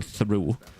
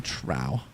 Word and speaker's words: trough: it that way, but I always thought it's called the feeding through until I saw there's actually no H in between the T and the R.